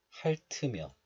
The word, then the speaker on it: 핥으며: This one is pronounced as 할 in isolation, but it is followed by a vowel of the next letter. So linking or liaison occurs, and 티읕 moves to the next letter. So 으 becomes 트. So this is pronounced like 할트며, 할트며.